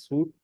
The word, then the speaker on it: suite: Microsoft Office, MS Office Suite or MS Office Suite, right? So this word is pronounced as this. This word is pronounced as suite, right?